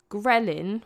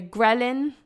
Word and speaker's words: ghrelin: If you're not sleeping well, ghrelin, which is like your I'm hungry hormone, it almost sounds like the word gremlin, doesn't it? It reminds me of like gremlin.